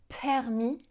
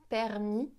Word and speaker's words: permis: Elle dit permis, pays et turbulence. J'exagère un petit peu, mais c'est ça l'idée. En français, on va dire permis, pays, turbulence. On souffle pas en prononçant ces sons de consonnes.